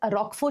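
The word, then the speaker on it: Roquefort: as rock for cheese you pronounce this as rock for cheese blue cheese so it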